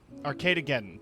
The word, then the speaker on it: Arcadegeddon: Arcadegeddon, that is the pronunciation.